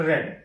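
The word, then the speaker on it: read: और उसके जस्ट तुरंत बाद वर्ब का third form रेड। Spelling same रहती है लेकिन इसका जो प्रोनाउंसिएशन है वो रेड किया जाता है, लिखा रीड रहता है,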